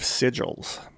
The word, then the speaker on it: sigil: It also discussed magic and the use of sigils.